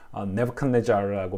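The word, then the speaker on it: Nebuchadnezzar: 근데 이 느부갓네살은 처음에 이 발음이 안 돼가지고 너무 힘들었어요. 네부칸네자르라고 발음을 하거든요.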